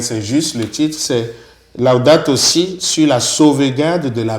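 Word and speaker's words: Laudato si': Vous avez bien prononcé, Laudato Si, c'est bien, félicitations.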